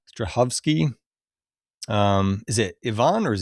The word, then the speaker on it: Strahovski: Ivan, how do you pronounce her last name? Strahovski. Strahovski.